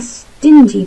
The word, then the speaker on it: stingy: A stingy portion of vegetables. She's too stingy to give money to charity. She is too stingy to give money to charity. Stingy diye okunuyor yalnız C ile.